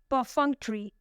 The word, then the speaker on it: perfunctory: The third word is perfunctory. Perfunctory. It has 4 syllables and the stress is on the second one.